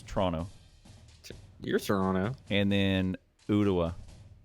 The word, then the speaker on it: Toronto: that it's kind of instead of Toronto it's more two syllables it's Toronto you're Toronto and then